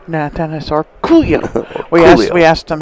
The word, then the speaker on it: Orcollo: And with that Let me emphasize. Orcollo. Yeah, so that's the way we say it. Orcollo. Well, I like it. Orcollo.